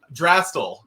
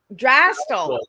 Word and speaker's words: Drastal: We have Okay, so how do I say it? Drastal. Drastal. And it's totally I'm fine.